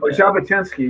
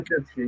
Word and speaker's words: Jabotinsky: Jabotinsky, yes. Am I pronouncing it wrong? Jabotinsky, yeah.